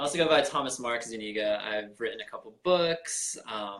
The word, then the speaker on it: Zuniga: Zuniga. Zuniga. Dang. Or if you want to be daring, you can pronounce it the Spanish way, which is Zuniga.